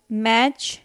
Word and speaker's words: match: So, match, T silent, castle, T silent, Christmas, T silent.